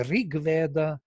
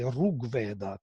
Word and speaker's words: Rig Veda: So this created the difference between Krishna and Krushna. Rig Veda and Rug Veda.